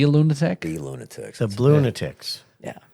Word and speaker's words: Blunatics: not the Blunatics, not balloon addicts. You know, if you spell it phonetically, it is Blunatics.